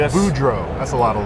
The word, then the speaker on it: Boudreau: Although, there is a name that we just found that's very long and it just happens to be two syllables. Uh, but you can do an easy US Budro.